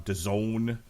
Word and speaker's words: DAZN: There's Alexander Vesputin versus Radzab Butev on DAZN, which rhymes with calzone.